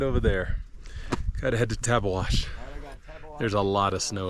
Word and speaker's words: Tabeguache: Gotta head to Tabeguache.